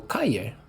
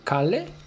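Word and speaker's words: Cali: to it um Double L in Spanish is pronounced as you for example Kaye you don't say kale so like Street kale is the city in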